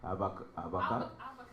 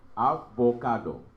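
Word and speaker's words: אבוקדו: Avocado. Ken, that's how you say avocado. Yes, in Hebrew. Avocado. So it's going to force you to say it with an accent because this is how it's spelled.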